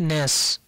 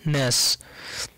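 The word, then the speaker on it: gnash: এস এইচ, উচ্চারণটা হবে ন্যাস। জির পরে যখন এন থাকবে তখন মনে রাখবে এন সাউন্ডটা প্রাধান্য পাবে, জি সাউন্ডটা সাইলেন্ট হয়ে যাবে, তো উচ্চারণটা হবে ন্যাস।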